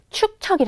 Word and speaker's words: 축척: 이것은 바로 축척이 겁니다 발음이 좀 어렵죠 축척 축척 자이에 축 척 한 번씩 발음을 한번 해 보는게 중요해요 왜냐면 이게 머릿속에 잘 안 들어오는 말이에요 사실은 굉장히 이게 좀 강하기도 하고 어 발음을 할 때 좀 어렵기도 하거든요 한번 해 볼까요 축 척 되죠 축척 응 자 초콜릿